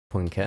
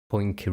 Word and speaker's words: Poincaré: Poincar? I mean, okay, because I've always been yelled at for pronouncing the E with the dot and asterisk. Poincaré. Accent. Yeah.